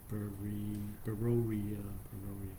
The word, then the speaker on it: Berea: AMP and the New Living Translation call it Berea. Beroia.